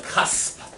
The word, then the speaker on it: cusp: Okay, say it like you're an angry German. Cusp. Okay, if you're not spitting when you say this, Adrian, you're saying it wrong. Say the word right. Cusp. It's a cusp. You have to spit at the end.